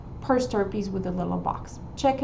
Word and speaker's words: per stirpes: They have a box where it says per stirpes. Per stirpes, it's spelled P-E-R, and then it's separate word, S-T-I-R-P-E-S.